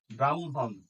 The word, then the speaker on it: ব্রাহ্মণ: এরপর হল হ মফলা হ মফলার উচ্চারণ হইতেছে দুইবার ম ফলার মত উচ্চারণ আসে যেমন ব্রাহ্মণ ব্রহ্ম পত্র আর ক